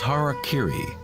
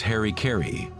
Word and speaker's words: harakiri: In the samurai tradition, one form of ritual suicide, or seppuku, was harakiri, was often mispronounced as harikiri.